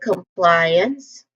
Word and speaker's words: compliance: For the first syllable, com, it has a short, it has a schwa sound there, that upside down E. Come. So it sounds like come. The second syllable, ply, comply. Not ply. It is pronounced as ply with a diphthong I. So there's a diphthong I here. Ply. It sounds like fly, but you change the